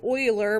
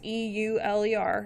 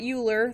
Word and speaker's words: Euler: it's after a mathematician his name is pronounced Euler but it's spelled with an E it's e-u-l-e-r it's not Euler that's how you mispronounce